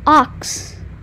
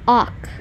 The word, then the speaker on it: auk: a type of bird oh they're little ox well we've been pronouncing it little awk been pronouncing it all wrong all wrong no no